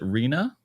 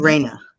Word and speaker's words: Reina: And then is it Rena or Reina? Reina. Reina. Okay, Reina from Marathi, and I think we're gonna have someone else be joining here on soon enough.